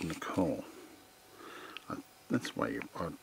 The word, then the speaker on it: Nicola: And these last three are called Nicola. That's the way you would pronounce it.